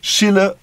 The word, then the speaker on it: Schiller: Schiller diye okunuyormuş gibidir ama aslında Almanlar Schiller diyorlar.